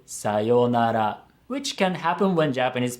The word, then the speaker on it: sayonara: they said it sayonara it sounds like it only has four moras now this is where the concept of maura is important because if you look at the letters it has five letters so it has five morals but when we say this word we pronounce the two letters yo it becomes a long vow yo but this long vowel has two morals so if you're counting it has to have five morals and it's very common